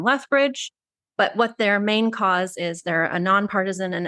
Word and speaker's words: CAUS: Chris, do you pronounce it CAUS, or is there like a? It's just CAUS, yeah.